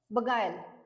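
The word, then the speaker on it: beguile: next word काय आहे बगायल okay so याच प्रोनन्सशन काय आहे बी य आय आय एल बगायल okay so बगायल म्हणजे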